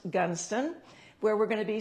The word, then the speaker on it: Goodnestone: It's spelled Goodnestone, but pronounced Gunston, where we're going to